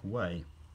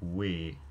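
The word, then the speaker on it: wē: will represent, for example, the Old English pronoun we, as in like us, they will say it's pronounced like way. Whereas in fact, it had a monophthongal pronunciation, ear, weir.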